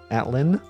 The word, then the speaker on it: Atland: Atlin, no D. The D is silent.